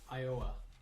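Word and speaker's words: Ioa: Billy, No, his name was Iowa, Yeah. and it's spelled I-O-A. like the state.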